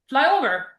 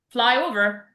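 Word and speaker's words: flyover: The same will be in fly over. Fly over. So a fly over the stress fly in the again this is a compound noun so it's in fly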